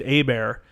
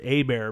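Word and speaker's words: Hebert: from louisiana his name's a bear and he's like i know how to pronounce that name it's h-e-b-e-r-t but you pronounce it a bear because i you know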